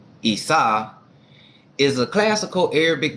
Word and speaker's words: Isa: quick real so now Esau Arabic romanized as I mean Isa is pronounced isau is a classical Arabic